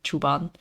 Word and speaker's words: Szuban: and that's how I get to names like chuban and yes it's uh spell it's spelled s z uh u b a